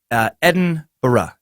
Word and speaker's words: Edinburgh: the are barely spoken also Edinburgh or Edinburgh no O's there champ it's Eden era Edinburgh Edinburgh same goes for other